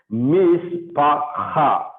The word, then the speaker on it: mishpacha: It is not fa. It is pa. Okay, mish pa. This is hey, hate, and this is hey. So you have to use your guttural to pronounce it. Mishpacha.